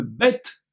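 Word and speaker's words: ב: la deuxième lettre évidemment c'est le vê ou le bête ici on prononce V le vê et qui lui est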